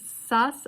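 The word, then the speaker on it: שָׂשׂ: So this is Sas with a Samech, not Samech, a Sin, like a Shin, but pronounced Sa.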